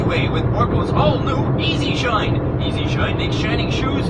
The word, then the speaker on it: E-Z Shine: That's right, it's not the word easy written out, it's the letters. It sort of sounds like it when you pronounce the Z to Z. It sounds like Easy Shine.